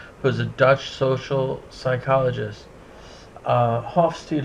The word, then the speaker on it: Hofstede: Hofstede, who I've also heard pronounced Hofstede, did his data collection from 1967 to 1973.